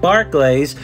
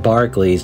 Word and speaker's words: Barclays: I think it's actually pronounced Barclays instead of Barclays.